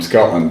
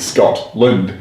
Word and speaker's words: Scotland: in scotland too yeah they don't pronounce their teeth so you always know the person's not from scotland because they you know they're pronouncing it scott lind as opposed to scotland scotland they just totally removed the tea it becomes silent but you just seen